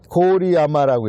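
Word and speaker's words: 郡山: 이 고오리야마라고 읽습니다. 일본말로.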